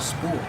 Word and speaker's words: spool: This hose is wrapped around a spool. How do you pronounce it? Spool. Use the long oo like pool and cool, followed by the dark L.